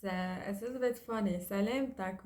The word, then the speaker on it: سلامتك: سلامتك we say to a male, سلامتك to a female, and سلامتكن to a group.